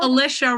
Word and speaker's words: Alicia: Alicia rhymes with militia.